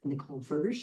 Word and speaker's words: Nicole Verge: And is it Nicole Verge? Is that how you say it, Dr. Verge? That's right. Yeah.